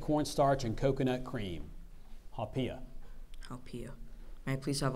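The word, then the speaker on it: haupia: pudding made of corn starch and coconut cream haia haia may I please have all the information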